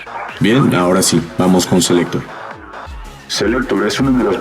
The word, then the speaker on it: C-Lekktor: El nombre Selector, de hecho, como muchos se habrán dado cuenta, es un juego de palabras que se pronuncia igual que selector, pues para Marco eso